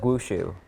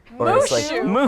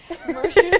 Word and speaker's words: Mushu: Yeah, like Wushu. Mushu, first of all. Mushu. His name, Mushu spelled with an M, bestie.